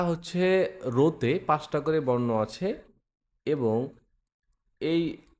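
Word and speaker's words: あ: পাঁচটা বর্ণ একসাথে দেওয়া আছে। তাহলে এটা কি হবে? এটা উচ্চারণটা কি হবে সেটা আমরা শুনি। আ অর্থাৎ এই বর্ণটা হচ্ছে আ।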